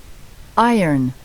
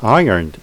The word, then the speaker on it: iron: iron, 자, 여기서 R이 있는데 iron이라고 발음이 안 돼요. iron 하고 R이 묵음이 되죠.